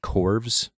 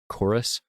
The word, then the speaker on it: Chorus: scorn another one called chorus but the U in that is actually a v so it looks like corves but it's actually pronounced chorus saw some footage from